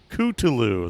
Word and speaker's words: Cthulhu: Cthulhu.